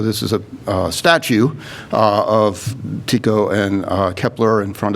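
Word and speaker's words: Tycho: only learned today that it's supposed to be pronounced tico it's always taiko to me but so he built this elaborate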